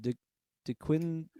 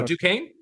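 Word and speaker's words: Duquesne: the team from Pittsburgh I don't know how to pronounce it D Quinn oh Duane Duane okay that's how you pronounce it and I'm an idiot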